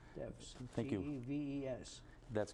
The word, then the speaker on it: Teves: Is that how you pronounce it? Yes, sir. Teves. Teves.